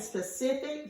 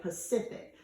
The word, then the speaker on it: specific: not something in general a lot of times you'll hear people mispronounce and instead of saying specific they say Pacific they'll say like that's a Pacific fact but that's incorrect we don't say Pacific fight is specific so make sure you don't